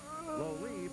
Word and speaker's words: Lolive: Lolive rhymes with Olive.